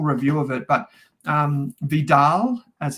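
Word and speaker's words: VDAL: had a full review of it but um Vidal as it's pronounced as a ticket symbol vda um when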